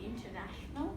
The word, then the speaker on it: international: So we found the different syllables. So there were 5 syllables, and we broke the word in half. Yes? And there were 11 phonemes. What did you find about the syllables? So this most accented part was a NA.